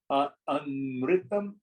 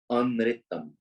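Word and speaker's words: अनृतम्: Amritam. Spell it, please. Na ri ta ma. Anritam.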